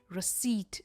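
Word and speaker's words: receipt: खाना खाने के बाद हमें मिलती है रिसीप्ट इट्स नॉट रिसीप्ट इट्स रिसीप्ट रिसीप्ट रसीद तो डेफिनेटली नहीं कहेंगे वो हिंदी होता है बट ये है रिसीट रिसीट यानी अ बिल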